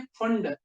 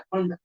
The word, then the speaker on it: Pfund: कौन सी मिलती है, फंड, PFUND, पी साइलेंट रहता है, फंड, याद रहेगा।